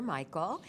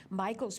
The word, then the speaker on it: Mychal: little bit about him Michael's Learning Place that's spelled m-y-c-h-a-l it was inspired by his daughter Michael Ed opened it in